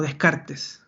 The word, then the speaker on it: Descartes: porque acá va a aparecer la figura de Descartes, o Descartes, como se pronuncia directamente.